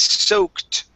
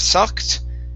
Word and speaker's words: soaked: soaked wool instead of sucked so soaked his soaked wool his soaked wall good good much better there you go that last time was good make sure to add that t there good uh next